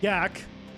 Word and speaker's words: gack: That's how it's pronounced. GAC.